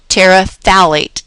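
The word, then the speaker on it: phthalate: polyethylene talate polyethylene talate notice this talate the pH is silent talate and we're going to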